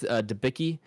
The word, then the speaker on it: Debicki: But we have Elizabeth Debicki.